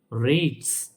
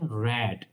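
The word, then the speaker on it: read: আর যদি বলেন সে পড়ে হি রেড। আমরা জানি রেডের ফাস্ট টেন্স হচ্ছে রেড। কিন্তু আমরা অনেকে রিড পড়ি। বাট এটা উচ্চারণ হবে রেড।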